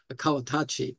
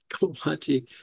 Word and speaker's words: Kawatachi: So our executive director's last name is Kawatachi, not Kawachi.